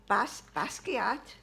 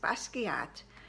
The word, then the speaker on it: Basquiat: the famous bag the basquiat i said it right everybody i've been practicing my problem with that word was i was looking at the spelling and that threw me off this is bas basquiat it's a com a